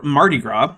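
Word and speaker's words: Mardi Gras: So, Fat Tuesday or Martyra, which is just an anglicized pronunciation of the French phrase fat Tuesday, is the day before Lent starts in Western Christianity.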